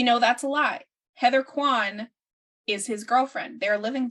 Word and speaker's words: Quan: So her last name is not Kyman, it's Quan.